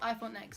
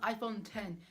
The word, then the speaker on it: iPhone X: iPhone X we're not it's not called iPhone X I'm just saying that right now because you might be confused right now but I thought next is actually called iPhone 10 even though it's spelled